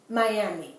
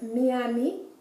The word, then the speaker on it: Miami: So Miami would be pronounced Miami. The I would be pronounced like the E, because that's the sound of the I in Spanish, right?